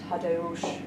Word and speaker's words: Tadeusz: She says Tadeusz Kantor.